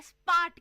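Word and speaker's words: spät: और स्पार्ट का मतलब है लेट. स्पार्ट। स्पार्ट का मतलब है लेट।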